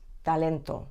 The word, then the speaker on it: talento: mouth like traffic Talent the Spanish te is pronounced with your tongue just behind your top teeth so rather than Talent it's talento or rather than traffic